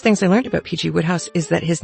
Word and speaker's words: Wodehouse: I learned about PG woodhouse is that his name is actually pronounced PG wood house it looks like Wodehouse it isn't it's wood house there are lots of